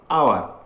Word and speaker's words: hour: Here H is consonant but H is silent here, so the pronunciation of this word is hour.